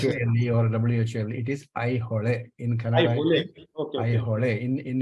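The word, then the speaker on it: Aihole: So it is I hole Pattadakallu in Kannada. It is how pronounced. I request you to. Yeah. Thank you, sir. Thank you. You try this out. I hole. I hole.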